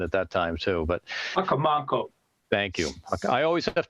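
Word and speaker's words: Hocomonco: And as you extend down towards the south, it blends into a wetland system that runs to the south towards Hakanamo Pond. Forgive my pronunciation, is one I've always had trouble with.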